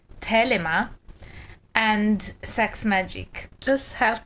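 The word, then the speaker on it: Thelema: tradition of the lima which would be pronounced in greek telema and sex magic just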